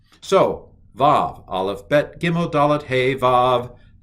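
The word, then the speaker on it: ו: Aleph, Bet, Gimel, Dalet, Hey, Vav. Used to be called Wow. So you still will hear some people pronounce it W and some people pronounce it V.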